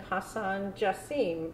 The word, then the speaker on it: Hasan Jasim: and today i have the honor of interviewing hassan justine now my first question is did i pronounce that correctly 100 percent oh great well